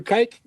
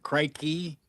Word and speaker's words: Crike: Well, I think technically you're not supposed to pronounce the E on the end of his name, Crikey. So I think it's just Crike.